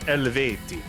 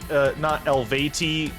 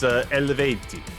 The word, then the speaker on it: Eluveitie: Oh, it's pronounced Eleveiti. It's not Elveiti or Eluveitie or Eluvetti or whatever. It's Eleveiti.